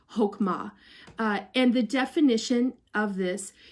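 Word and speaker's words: חכמה: the word for wisdom in the Hebrew is hokum ah and that doesn't isn't spelled like you think but its per map pronounced hokhmah and the definition of this is an action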